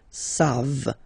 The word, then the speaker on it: savent: You don't pronounce it, so you get the sound savent.